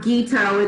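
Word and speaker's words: Guiteaud: and we'll find you i'm geeto it's spelled g-u-i t-e-a-u-d are you finding that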